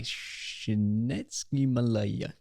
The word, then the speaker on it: Csikszentmihalyi: So there was a positive psychologist, and I can never pronounce his second name, Milai Csikszentmihalyi.